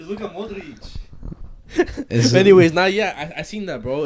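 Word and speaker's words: Luka Modrić: It's Luka Modric.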